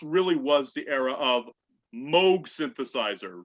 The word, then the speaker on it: Moog: And that's not a bad thing, because this really was the era of Moog synthesizer. Notice I said Moog, not Moog, because I know how to pronounce things correctly, ladies and gentlemen.